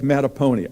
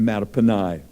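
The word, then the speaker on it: Mattaponi: rainier m-a-t-t-a-p-o-n looks like matapony oh i wish it were that's a great name a matapony actually it's a native american name pronounced matapani there's an upper marlboro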